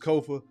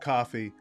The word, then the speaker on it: Kofa: I am your humble host, Kofa, K-O-F-A, not coffee, not Kufu, not Kofi, or any variation thereof. My name is my name. Kofa rhymes with sofa.